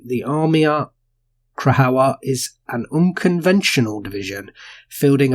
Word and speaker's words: Krajowa: Somebody did give me did put in the comments previously because I was pronouncing it wrong. I'm hoping it's Krajowa.